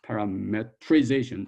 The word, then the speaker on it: parametrization: Now, some people put an E here. I normally don't. I skip that because that's how we pronounce it. Parametrization as opposed to parameterization.